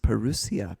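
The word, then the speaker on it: parousia: which is the greek i think it's pronounced perusia p-a-r-o-u-s-i-a now it also means arriving but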